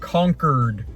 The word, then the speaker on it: Concord: I did learn it's pronounced Concord, like they've been conquered by conquistadors. Concord, New Hampshire.